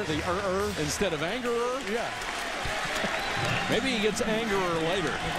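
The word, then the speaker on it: Angerer: get the first down it's a-n-g-e-r-e-r pronounced anger and you know we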